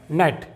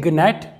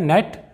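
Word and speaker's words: gnat: silent होने वाला है ए के पहले जब भी जी आएगा तो हमेशा साइलेंट रहेगा एग्जांपल देखते हैं दोस्तों यहां पर लिखा हुआ है नेट इसे ग्नेट या जिनेट नहीं पढ़ेंगे यह है नेट एन के पहले जी साइलेंट है तो नेट का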